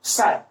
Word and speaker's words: psi: The wave function of the electron is denoted by symbol psi, psi, जहां पे p silent है. तो इसको मैं क्या बोलूंगा? psi.